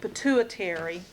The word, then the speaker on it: pituitary: pit U I ter it's not pronounced quite the way it's spelled and so you have to kind of come up with a a way of remembering but pituitary gland and hypothesis the